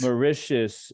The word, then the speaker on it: Mauritius: um more more it is how would you pronounce the Mauritius Mauritius right off the coast of Africa um some